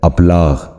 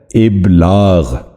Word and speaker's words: ابلاغ: کہیں استعمال کرتے ہیں۔ آج کا پہلا لفظ ہے ابلاغ، جو غلط تلفظ ہے۔ درست تلفظ ہے ابلاغ۔ دوبارہ سنیے، درست تلفظ